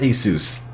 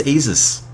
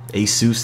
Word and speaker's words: Asus: and ever there is no time limit it's pronounced Asus I always thought it was Asus but after hearing people that work from the company pronounce it I mean Asus it is uh the g73 is the first